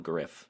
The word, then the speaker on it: Gruff: of the front man Gruff Reese or Griff Reese I don't know I've heard people on the VC call him Griff even though it's clearly spelled Gruff who knows what those